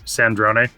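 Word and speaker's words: Sandrone: And really, it's Sandron. It's gonna take me just a little bit to get used to that one. But yes, Sandron.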